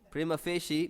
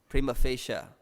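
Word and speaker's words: prima facie: at face value and how do you pronounce this because I said it that way or you knew that Prima facia right there's three ways to pronounce it right there's three ways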